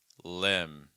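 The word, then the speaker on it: limb: free to post them next word here is LM Lim it's like e short I so make sure you're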